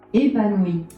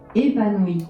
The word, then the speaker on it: Épanouie: Épanouie, That's how you say it. épanouie, One more time for the people in the back.